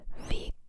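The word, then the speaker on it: Weg: Um, for example, the German word ve. It's spelled w e g, but that last letter doesn't sound like a g, right?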